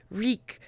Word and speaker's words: Reek: Reek, Reek, it rhymes with sneak.